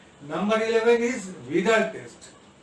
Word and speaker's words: Widal: Number 11 इज विडाल test. इसका spelling है WIDAL, बट it pronounced as विडाल, V नॉट W।